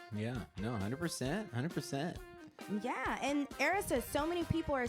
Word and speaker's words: Erisa: It's Erica, but replace the K with the S.